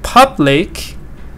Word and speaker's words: public: to explain that here stress is on the first part we say data Public public like never data data